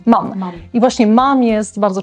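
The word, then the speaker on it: Mumm: tamte szampany musują i właśnie jak to się wymawia mam i właśnie mam jest bardzo często sponsorem formuły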